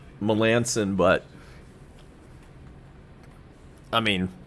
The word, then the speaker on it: Melancon: I know his name is pronounced Melanson, but I mean, it's Melancon.